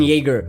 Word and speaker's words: Jaeger: the alcohol jagermeister it's spelt with a j but it's pronounced with a y so same would go with aaron jaeger because they're both german